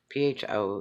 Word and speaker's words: pho: faux soup or what they call the soup pho it's pronounced it's a Vietnamese soup and very popular